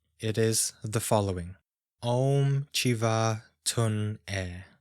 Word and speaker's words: Chiva Tun E: Om Chiva Tun E. So it's pronounced like this, with the vowels being what should be prolonged.